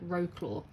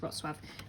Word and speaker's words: Wrocław: favorite ever postcards um so it is spell pronounced rotv but obviously it looks like R claw um but it's Ros swab um but it's a really lovely Place Poland